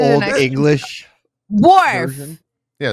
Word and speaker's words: Worf: Is it Waldorf?